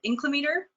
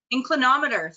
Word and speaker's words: inclinometer: how to say this incline inclinometer inclimator inclinometer inclinometer thank you i'm learning a new